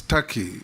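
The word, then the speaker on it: Türkiye: the comments made by it is not called Tak it's Taki it's only written Tak but it's pronounced Taki thank you that is the name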